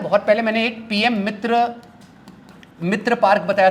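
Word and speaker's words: मित्रों: और एक होता है मिट्रॉन। मैं समझा नहीं, मैं मिट्रॉन पढ़ रहा था, बाद में पता चला मोदी की फोटो दे, अच्छा मित्रो लिखा है, मित्रो के आखिरी में एन साइलेंट होता है।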